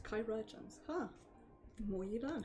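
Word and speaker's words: chirurgeons: care our chirogians can provide that's how you pronounce it not churro urgents kai regions huh the more you learn huh now we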